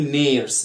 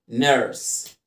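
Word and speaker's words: nurse: ممرضه يعني ايه طبعا كلنا بنقول نيرس لا بص لما تلاقي الو ار كده انها ايه اليو ار اول ما تشوف اليو ار انطقها زي الحرفين دول يعني ايه يعني هتقول هتقول هتقول نرس زي كلمه ففر ممرضه يعني نس ماقولش نيرس احفظ ده كويس جدا جدا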